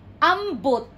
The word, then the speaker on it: ambot: Then ambot. See? When you pronounce O, it's not O, it's U. Ambot.